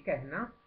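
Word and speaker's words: कहना: in traslitterazione avremo Cata la seconda vocale breve non viene pronunciata e la prima come nel caso di rahana rehna tende a trasformarsi in una e aperta Quindi kehna me al femminile meti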